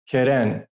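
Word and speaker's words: קרן: And this word in Hebrew is pronounced Keren, and it means seed or corn.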